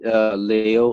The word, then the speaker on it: Liu: right it's called Li Leo Leo leo right and then so so easiest way to pronounce that just say Leo like Leo it make sense yeah